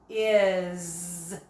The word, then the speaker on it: is: Is. What sound does that make, that letter S? If you said the Z sound as in zipper, you got it right.